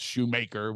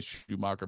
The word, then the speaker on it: Shoemaker: Antonio Banderas rather than pronounce Shoemaker which people say Schumacher but anyway yeah all